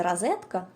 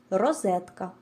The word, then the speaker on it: розетка: і не у по-третє ненаголошений звук о ніколи не переходить у звук а говорити Розетка неправильно по-четверте наголошені голосні звуки вимовляються завжди чітко в нашому випадку чи звук е Розетка про інші особливості вимови